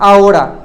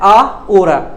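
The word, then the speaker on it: ahora: साथ ओड़ा जोड़ते हैं आ ओड़ा आ ओड़ा देखिए यहां भी हो रहा है एच बीच में है लेकिन आई एम not pronounce H यहां बोल रहा है आ ओरा ये उसका ही हो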